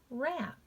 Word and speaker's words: wrap: Wrap.